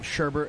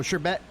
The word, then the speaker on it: sherbet: before anyone tells me it's not Sherbert it's your bet Oh no you're getting into this now I I looked it up and both pronunciations are acceptable okay so sure bet can be called sherbert